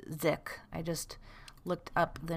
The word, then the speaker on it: sich: consciousness consciousness and sich or actually i think it would be pronounced sick i just looked up the note on this it says it is an allusion to the german ding and zitch which means thing in